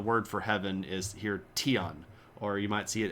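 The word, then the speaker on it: 天: for Heaven Is Here tion or you might see it as Dion um the T and the D are effectively pronounced basically the same way in Chinese a little bit different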